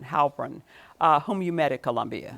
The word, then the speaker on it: Heilbrun: But tell me about Carolyn, how do you pronounce her last name? Heilbrun. Heilbrun, whom you met at Columbia.